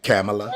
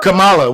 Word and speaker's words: Kamala: run me the bag camela hey man her name's Kamala we got to say it right I I done seen